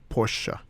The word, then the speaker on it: Porsche: I think it's probably Porsche. Yeah, but I actually think Germans say Porsha.